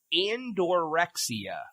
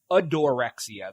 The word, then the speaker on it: adorexia: What is andorexia? No, I'm sorry. Adorexia. There's no N.